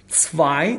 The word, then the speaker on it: zwei: zwei تکرار میکنم zwei زد رو دوستان در هم ست رو به صورت سه تلفظ میکنم zwei شما حتما تکرار